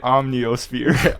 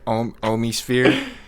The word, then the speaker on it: Omnisphere: Somebody could use Omnisphere, and I've seen you use Omnisphere. the way you and Tim say it is you guys are both getting trolled. He called it Omniosphere. Omnisphere.